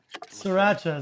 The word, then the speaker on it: Sriracha: 2/3 mayonnaise and one3 Sriracha Sriracha is how you say that from there I'm